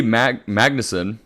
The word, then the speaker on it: Magnussen: Michael Cera, Rebel Wilson, Billy Magnussen.